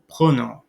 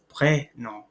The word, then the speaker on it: prénom: So without the accent for the first one, without the accent aigu, we'd have pronom, but instead it's prénom, prénom.